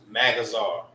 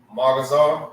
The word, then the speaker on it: Magazar: It's Ma, right? It's not Mag. I hear a lot of people say that too. Magazar.